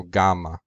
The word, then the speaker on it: gamma: In classical Greek, it was pronounced gamma. In Koine and modern Greek, it's pronounced gamma. Now, I want to point out that because there's two consonants side by side, then you would held the sound m twice as long, so gamma, compared to gamma.